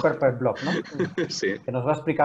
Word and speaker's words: Purple Blob: Bingen Gárate es uno de los fundadores de Purple Blob, Purple o Blob, pronunciado sí, en inglés como Purple Blob, ¿no?